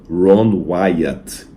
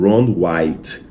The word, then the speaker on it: Ron Wyatt: Aliás, até interessante, uma curiosidade para os adventistas, o nome dele era Ron Wyatt. Ron Wyatt. Mas pela má pronúncia em português, alguns confundiram como Ron White.